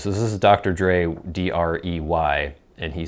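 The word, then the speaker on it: Dr. Drey: So this is Dr. Dre, D-R-E-Y. And he says, pronounced the same as Dr. Dre, D-R-E.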